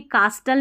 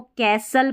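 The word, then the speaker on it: castle: अब इसको भी कास्टल नहीं पढ़ना है इसको या कैस्टल नहीं पढ़ना है। इसको कैसल पढ़ना है। कैसल यहां पर जब एस टी एल ई साथ में रहता है तो टी साइलेंट रहता है।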